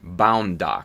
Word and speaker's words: Bound Doc: Bound BAUNDDOC, Bound Doc. That's how it's spelled, Ludic.